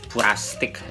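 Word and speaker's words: プラスチック: yang punya label ini ini dibacanya pura atau plastik jadi plastik plastik tapi di Jepang pura atau purastik dia mereka sebutnya purtik e lambang ini lambang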